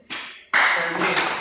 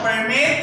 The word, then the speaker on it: permit: Permit. So permit is function as a verb. Permit. The other one, permit, that is noun.